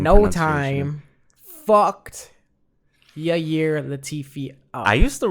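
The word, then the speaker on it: Ilir: Yair, I-L-I-R. I think it's Yair. I just thought it was an Iller. No, it's Yair Latifi.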